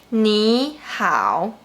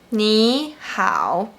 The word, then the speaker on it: 你好: But when the third tone is followed by another third tone, you should pronounce the first one like the second tone. For example, 你好, 你好, 想法, 想法, 雨伞, 雨伞.